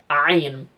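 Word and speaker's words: عين: Somalia, but you know, Ain is pronounced from a bit further back. Yeah, if you put your fingers on your throat like that, you should hear the you should feel the vibration. Ain.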